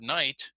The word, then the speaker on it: night: example in the word night notice that G and H we don't pronounce that's what happened okay